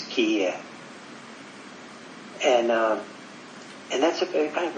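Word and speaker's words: 帰依: In Japanese it's kiye.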